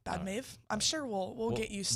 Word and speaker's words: Badmaev: Bad, and then Maev. Badmav. Badmave.